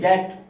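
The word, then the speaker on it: debt: silent T is silent তারপর দেখেন ডি ই বি টি এর উচ্চারণ হচ্ছে দ্যাট দ্যাট বি এর উচ্চারণ হচ্ছে না বি ইজ সাইলেন্ট কিন্তু এখানে দেখেন এখানে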